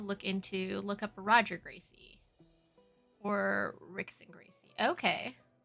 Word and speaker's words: Gracie: into, look up Roger Gracie or Rick and Gracie. Okay. Oh, and the R is pronounced as an H.